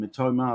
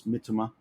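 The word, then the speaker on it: Mitoma: guy playing for Brighton everyone calls him matoma I believe it's mitima because you don't emphasize the second for a last syllable in Japanese so I minimize my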